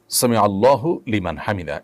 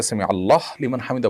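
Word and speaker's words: سمع الله لمن حمده: দেখুন সামি আল্লাহু সামি আল্লাহু লিমান হামিদা। এটি হল শব্দের সঠিক উচ্চারণ। সামি আল্লাহু লিমান হামিদা। সামি আল্লাহু লিমান হামিদা এটা সঠিক উচ্চারণ নয়। থামতে হবে সেখানেই যেখানে মানুষ ওয়াকফ করবে।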